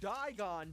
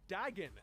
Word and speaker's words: Dagon: But what we're going to do here is get together and make sure the ancient dragon Digon doesn't come back. Dagon. is his name and how it's pronounced actually.